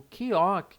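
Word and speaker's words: 기역: Mas na verdade, a pronúncia dela é de K ou G. K ou G. Por quê? Porque ela vai ter um som de K no início de uma palavra e o som de G no meio ou no final.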